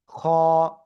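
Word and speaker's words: خ: পারি গলার শেষভাগ কে এই অক্ষরটা একটু মোটা আওয়াজে উচ্চারিত হয়। খ এভাবে আমরা উচ্চারণ করব।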